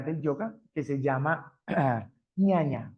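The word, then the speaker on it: jñāna: yoga que se llama ñaña j n a n pronuncia ñañañaña y esto quiere decir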